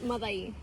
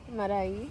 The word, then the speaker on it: Madai: It's Madai. Marai. Madai. Marai. Am I saying it right? Madai. Madai. Ma. Da. Da. E. E.